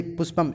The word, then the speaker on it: पुष्पम: तो पुष्पम में जो ऊ है वो छोटी ऊ है, तो पू ऐसे ही पुष्पम सामान्य रूप से इस तरह से उच्चारण करेंगे, और यहाँ पर बड़ा ऊ है इसलिए सूत्रम ऐसे, ठीक है।